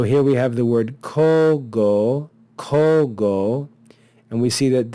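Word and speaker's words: cogo: of this word so instead of saying KO ago we contract the vowels and we have the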